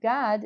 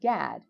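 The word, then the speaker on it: גד: the correct way um god is actually the proper pronunciation of the tribe of how people like to say in english gad it's not in fact gad it's pronounced god so next time you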